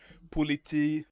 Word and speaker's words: politi: Uh, Politi, idioty. That's not idiot, that's moronic is the better and it sounds similar to police. It rhymes with police in Danish.